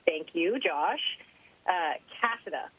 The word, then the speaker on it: Cassada: just wanted to say thank you Josh uh cassida right that's right that's the right pronunciation and no you've got it I get Casada a lot which actually sounds cooler and there's